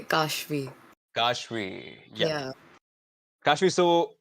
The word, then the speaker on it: Kashvi: It's a long A, Kashvi.